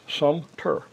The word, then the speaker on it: Sumter: It's just Sumpter. Uh, I hear it frequently mispronounced and I'm the last person that should